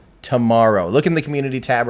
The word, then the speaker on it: TMRO: So there's a YouTube channel and a podcast called Tomorrow, but it's spelled TMRO. Tomorrow.